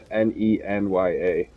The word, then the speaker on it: Nenya: she had it forever yeah no no it's pronounced and well it's named n-e-n-y-a nenya nenya who is I think I had